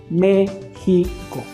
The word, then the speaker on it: México: a dividir esa palabra se divide en tres sílabas la primera sílaba acentuada entonces vamos a decir al niño que repita la palabra mexico siempre dándole énfasis al acento me pico méxico y le vamos a